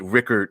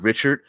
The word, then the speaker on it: Rickard: Rickard says, to be fair, I love that you do pronounce it Rickard and not Richard.